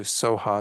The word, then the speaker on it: Svaha: By the way, those last two, Soha, sometimes it's spelled like Swaha, Svaha, but it's the same word essentially.